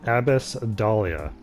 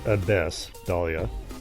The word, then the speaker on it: Abyss Dahlia: And that is Abbess Dahlia, which is how she pronounces it. I know the actual pronunciation is Abyss Dahlia, but it just doesn't roll off the tongue quite the same, so she has decided that that's how it's pronounced.